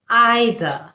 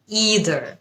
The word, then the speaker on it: either: প্রথম শব্দ আইদার। ইদার আইদার এটা হচ্ছে ব্রিটিশ উচ্চারণ এবং ইদার এটা হচ্ছে আমেরিকান উচ্চারণ।